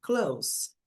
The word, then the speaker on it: clothes: É como na palavra months. Meses, né? A gente não fala esse the. Months. Então, você sai do som do n e passa para o som do s. N months, months. Então, clothes. Clothes.